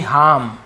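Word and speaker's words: harm: हार्म, ये भी हार्म, ठीक है, हार्म ऐसे हार्म, नुकसान पहुंचाना, ठीक है, हार्मफुल, नुकसानदायक, तो वही है, आर थोड़ा सा साइलेंट होता है।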